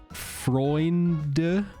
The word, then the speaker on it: Freunde: You always pronounce the E at the end of German words because that's usually plural. E at the end. Freunde.